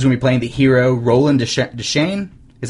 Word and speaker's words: Roland Deschain: I just elbows when we playing the hero roland deschain is how you say his name Shane yeah